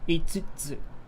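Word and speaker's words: 五つ: 5つ Itsutsu, itsutsu, itsutsu. It's pronounced itsutsu, not so the kanji here usually it's pronounced go for 5, but here for this it's itsutsu.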